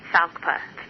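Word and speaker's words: FALCPA: Consumer Protection Act passed everyone calls its South paw very odd to pronounce in the acronym but this law was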